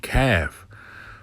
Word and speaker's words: calf: Thus the reason l is silent and calf.